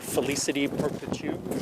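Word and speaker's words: Félicité Perpétue: Jason, you'll be familiar with this old rambler, Felicity Perpetu. Did I pronounce that right?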